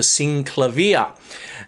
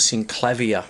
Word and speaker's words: Synclavier: work with the Synclavier, or as some people pronounce it, the Synclavier. And I call it the Synclavier, which is the Australian way of doing it, I suppose.